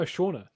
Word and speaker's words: Shauna: don't make me eat it um oh no Shauna oh my God if you've never read that word no it's Shauna I was like oh that's how you spell Shawna okay Shauna 34.